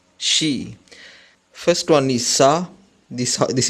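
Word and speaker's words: し: In Japanese you cannot see she sound, so it is gonna pronounce this just like she. This one is she.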